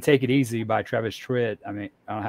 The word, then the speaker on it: Tritt: a great cover version you said travis tripp's name wrong i say trit or twitter travis travis